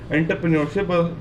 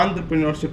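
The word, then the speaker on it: entrepreneurship: एक शब्द एंटरप्रेन्योरशिप, या बहुत से लोग उसको गलत प्रोनाउंस भी करते हैं एंटरप्रेन्योरशिप, पर वो एंटरप्रेन्योरशिप होता है।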